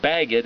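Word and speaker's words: בגד: Bet gimel dalet as a word is pronounced bagged, and it literally means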